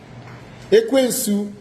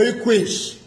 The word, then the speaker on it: Ekwensu: So in ancient times, you want to pronounce Ekwensu, it is pronounced Ekwens. Yes, you can say Ekwens or Ekwesh.